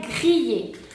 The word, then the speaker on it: grille: La primera palabra se pronuncia grille. ¿Por qué grille? Aquí vamos con el detalle. Tenemos i antes de doble l.